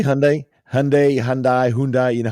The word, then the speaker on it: Hyundai: supposed to pronounce uh what people say is Hyundai or H or Hundai or whatever it's actually Hundai okay just in case